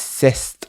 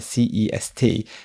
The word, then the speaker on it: c'est: Now, in this really simple example, you pronounce this cest, so you pronounce the T in the C-E-S-T, c'est un euro, like because the next word starts with a vowel. Otherwise, it would be c'est. So you don't say the T.